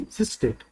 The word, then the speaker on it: SYSDATE: So it is pronounced, it is said to be sysdate, sys date.